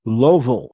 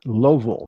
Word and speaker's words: Louisville: Houston, Indianapolis, Jacksonville, Kansas City, Las Vegas, Little Rock, Los Angeles, Lowville. That's how they pronounce it there. Lowville, Louisville, Memphis, Minneapolis, Nashville.